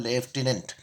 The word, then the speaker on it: lieutenant: लेफ्टिनेंट की ल्यूटिनेंट, लेफ्टिनेंट pronunciation होता है लेफ्टिनेंट।